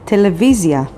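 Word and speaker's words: טלוויזיה: knows the word television television in hebrew is television and it's spelled with tet lamed vav vav yod zain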